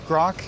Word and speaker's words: Groq: was striving to represent it's grock and we spell it with a Q and it's because it